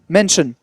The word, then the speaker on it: Mansion: Maniac Mansion. Mention. Mansion. Tu prononces pas le i en fait, c'est mention.